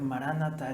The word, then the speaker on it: maranatha: dice para nada pero la palabra se debe pronunciar maranatha el señor vienen pronto